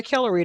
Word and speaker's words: Kellori: So I go by Kellery now, just in general, because it's not hard to learn it. It's like, the emphasis is on the first syllable.